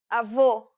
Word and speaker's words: avô: The letters A, E, and O each have an open and closed variant, and many Portuguese words differ only in the openness of the vowel.